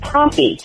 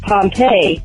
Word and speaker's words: Pompey: fans plenty not Pliny and Pompey not Pompeii the city which was destroyed by the studious by the way